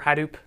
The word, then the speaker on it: Hadoop: pretty sure it's pronounced Hadoop with the emphasis on the ha I'm not positive but